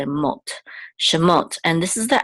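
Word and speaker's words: שְׁמוֹת: so together so say m shot and this is the accent or Trope Mark here the so we know that the accent of the words on the last syllable shot these These are the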